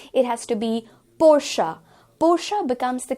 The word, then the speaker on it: Porsche: Porsche again is the incorrect pronunciation because इसे हम Porsche की तरह, even